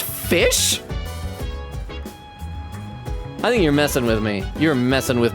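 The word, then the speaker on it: ghoti: says how to say goatee GH equals f as in rough o equals I as in women oh oh so i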